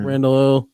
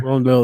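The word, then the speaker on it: Rondale: the um Randall no his name is not R Rand 's not Rand Moore or something Rond Del Moore Rondell there you go yeah that's yeah that's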